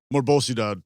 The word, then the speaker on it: Morbosidad: The band that you were just on tour with, Morvvis Sadad. Morbosidad.